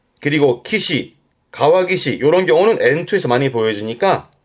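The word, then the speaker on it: 川岸: 그래서 발음은 가와기시. 가화기시. 요때는 뒤에 올 때는 땡땡부터요. 가와기시.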